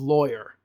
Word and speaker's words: lawyer: How do you pronounce the first syllable of lawyer? Loy, like boy.